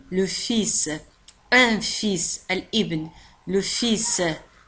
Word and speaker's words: fils: الكلمة تنتهي ب ls، لكن ال لا تنطق. نقول le fils.